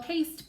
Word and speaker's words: paste: All I have to do is add that silent E, and then it changes that A to the long and strong A sound. All right, so we spell paste, P-A-S-T-E.